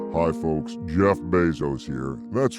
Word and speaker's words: Bezos: i guess all right is it bezos or bezos it's bezos he's being a dick intentionally mispronouncing words azkaban isn't it jesus no jeff